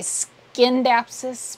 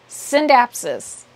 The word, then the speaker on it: Scindapsus: to train myself because I always would say skin dapsis but actually the sea is silent synapsis um so I have